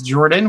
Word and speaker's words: Jorphdan: My name is Jordan with a silent PH in the middle, and I run a